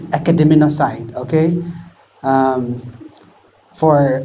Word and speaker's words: academinocide: protest in fact this many people struggle with the with the uh uh pronunciation it's academ side okay um for S